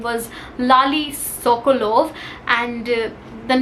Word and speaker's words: Lale: It's about the man, his name was Lali Sokolov, and the name, like the spelling of the name is Lale, but I searched it on Google. It is pronounced as Lali, so that's why I'm pronouncing it like that.